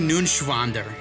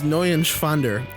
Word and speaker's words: Neuenschwander: Anthony Nunschwander. You didn't pronounce it right. Anthony Nunschwander. It's N-E-U-E-N. It's Neuenschwander. Anthony Neuenschwander.